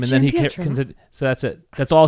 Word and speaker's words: Giampietro: Giampietro.